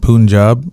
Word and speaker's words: Punjab: Wait, think of Punjab as the way you say big pun.